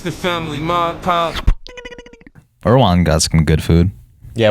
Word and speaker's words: Erewhon: I want to say it right, so I'm not trying I've been told and heard that it's Erewhon.